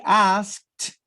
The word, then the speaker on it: asked: it is he asked does the t sound that's the ver that's the verb that ends with the t a t sound so it would be he asked he asked okay he asked her